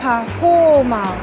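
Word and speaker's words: パフォーマー: Du mot anglais performer, donc ça se prononce performer. Avec beaucoup d'allongements. Performer. Ce qui est intéressant, c'est que le son R, le ER anglais, est transformé en A allongé.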